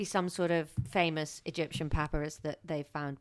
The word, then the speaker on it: papyrus: sort of famous Egyptian papyrus that they found. Papyrus? How do you say it? Yeah, we've run into this before. Yeah, it's papyrus. It's not papyrus.